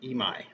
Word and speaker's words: Emig: His last name is actually pronounced Emai. So there you go. It's not Emig, it's Ray, it's Emai.